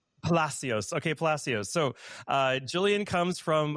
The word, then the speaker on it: Palacios: And Victoria, I want to make sure I'm pronouncing your last name correctly. Is it Palacios? Palasios. Palacios. Okay. Palacios.